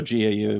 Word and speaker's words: Gau: Gao, I think is how you pronounce his name. Oh, Gau, yeah.